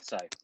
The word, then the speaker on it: Sai: All right, so same was the last one, just 1 minute intro, and we'll start with, is it pronounced Sai? Yeah, Sai.